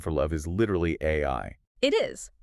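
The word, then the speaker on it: 愛: Right, because in Japanese, the phonetic sound for love is literally AI. It is. The kanji character for love is pronounced AI.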